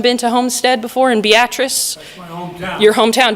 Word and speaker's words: Beatrice: Anyone been to Homestead before in Beatrice? That's my hometown. Your hometown. Did I say it correctly, or is it? Okay. Beatrice, yep.